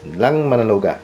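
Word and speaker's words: Landmannalaugar: And I know how to pronounce this. Langmanaloga, the Pearl of Iceland Highland.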